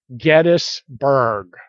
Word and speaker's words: Gettysburg: spoken to them and all of them agree that the name is gettis and so this is probably gettisberg but if you still